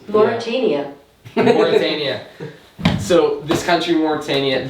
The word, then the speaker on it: Mauritania: Mauritania.